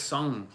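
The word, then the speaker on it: São: It's not Sao, it's Sung. Sao Paulo. But it's hard to say properly because I just say ng on it like sung, but it's more like song.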